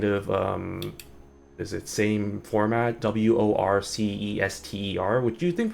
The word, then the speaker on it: Worcester: There's a city in the US that's like same kind of is it same format, Worcester, which you think pronounced like Worcester or Worcester, but it's pronounced Worcester.